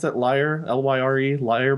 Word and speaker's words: lyrebird: Lyre? L-Y-R-E? Lyre? That's a liar bird.